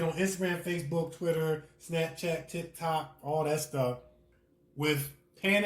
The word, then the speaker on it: TikTok: you said tip-top. Like, wait a minute. I might have said tip-top.